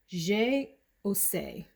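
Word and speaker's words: J'ai Osé: This is by the house of Laroche, Guy Laroche, and I think it is pronounced J-O-C, J-O-C.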